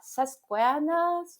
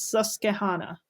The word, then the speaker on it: Susquehanna: her she uh she's a faculty of uh sasquaanas university i don't know if i pronounce it correctly my guess is susquehanna yes it's very hard for me to pronounce